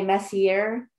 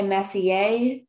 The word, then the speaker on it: Messier: So I know a lot of it is pronounced differently. I've heard so many people, Charles Messier, his last name, some people say Messier, and some people say Messier.